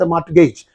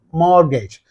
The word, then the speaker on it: mortgage: why it's okay and T is there it is silent both in the British pronunciation and in the American pronunciation so here your answer